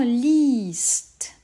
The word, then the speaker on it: liest: Au présent, liest. Le I est long, car il y a IE, car on l'écrit IE, ou c'est pour cela qu'on l'écrit IE.